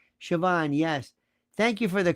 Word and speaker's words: Siobhan: Siobhan, yes. Thank you for the correct pronunciation.